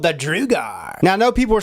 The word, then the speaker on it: drugar: LP but yeah this RDA is called the drugar now I know people are saying drugga drugga but you know Agate the guys that